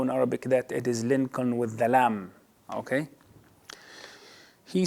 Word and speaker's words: Lincoln: These are the names with unpronounced letters could be transcribed wrongly and literally by the students, like Lincoln in Abraham Lincoln.